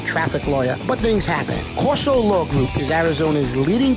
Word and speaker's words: Corso: CORSO.